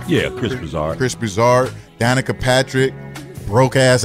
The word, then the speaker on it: Broussard: Yeah, Chris Broussard.